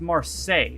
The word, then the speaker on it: Marseille: Okay, it's pronounced Marseille, so that's the band that Neil Buchanan was in.